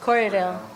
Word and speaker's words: Corriedale: Say like you're seeing your buyers want more Romney or more Korean, or how do you pronounce that? Corriedale.